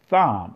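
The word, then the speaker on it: תם: The word Tom is like a major insult, but when you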